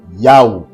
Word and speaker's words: Yahweh: Donc la vocalisation, la bonne prononciation du tétragramme sacré, du nom le plus excellent, le plus grand, le plus majestueux du Père céleste, créateur de toutes choses, est Yahweh.